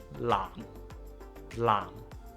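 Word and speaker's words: 藍: There is the L onset in the word lam, as in lam sek, the color blue. To pronounce the L onset properly, first we place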